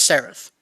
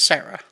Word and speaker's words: Sarath: he's an indian guy his name is spelled s-a-r-a-t-h when i saw the message yeah the text i thought it was misspelled i thought i was supposed to talk to someone named sarah okay so he just spilled